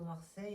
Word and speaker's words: Marseille: Moi, je dis le Gers parce qu'à Marseille, on prononce toutes les lettres.